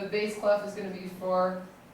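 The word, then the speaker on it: bass clef: is a base class a Bas CL is spelled b a SS not S E Bas cff and a Bas cluff you can think about your Bas mint in your house is low so the base cluff is going to be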